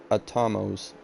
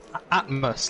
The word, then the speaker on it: Atmos: gap between Biwat and Atomos. Or I don't know how to pronounce his name. To be honest. Which one? Which position? P11. P11. Atmos, like Atmos. atmosphere. That type of thing.